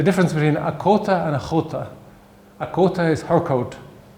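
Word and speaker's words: a chóta: between a cota and a chota. A cota is her coat. A chota, his coat. So if you can't pronounce the ch sound, you can't distinguish between her coat and his coat.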